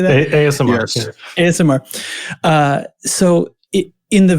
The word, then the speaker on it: ASMR: AMSR. How do you say that? ASMR.